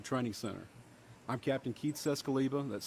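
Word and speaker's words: Czeskleba: and Pam Bearfield Training Center I'm captain Keith cescaliba that's spelled k-e-i-t-h-c-z-e-s-k-l-e-b-a with the Hoover Police Department joining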